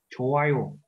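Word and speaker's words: 좋아요: Hoặc đây, chowayo. Có chữ hờ ở đây, chúng ta đọc là âm câm, đọc là chowayo.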